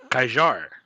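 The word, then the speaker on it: Kjær: Kajar. Kajar. His name is Kajar. Kajar. Okay, there we go. Kajar.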